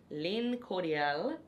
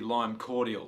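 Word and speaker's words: Lime Cordiale: resolve the issue between Lyn cordal and all bark music I think it's pronounced dark Park music it's actually lime cordial it's just straight cordial put stars in your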